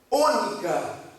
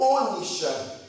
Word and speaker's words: ônica: Toma, disse mais o Senhor a Moisés: toma substâncias odoríficas, estoraque, ônica ou ônicha, como queira pronunciar.